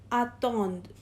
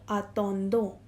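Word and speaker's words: attendent: now pay attention here in the conjugation of L and L plural we will pronounce it as atoned not a Tondo because all the endings which have e NT they will be pronounced till e only alright now let's do the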